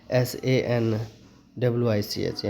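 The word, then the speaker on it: sandwich: फिर सैंडविच पढ़ते हैं, सैंडविच नहीं पढ़ते हैं, SAND, अगर यहाँ पे डी का प्रोनाउंसिएशन करते तो गलत हो जाता है। यहाँ पे क्या करना है, SANWICH, डी को चुप रखना है, यूज में नहीं लेना। सैंडविच पढ़ते हैं हम।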